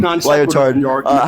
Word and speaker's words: Lyotard: of class division, says, I've never learned how to pronounce this one's name. Lyotard. However, it's literally is Lyotard. Don't fucking cancel me. It's the name is Lyotard.